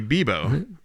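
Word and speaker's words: Bibo: It would be Bebo. Bebo. Yeah. Like Bimbo bread, but without the M. And you said it was Frost Children? Yes, Frost Children and Bebo.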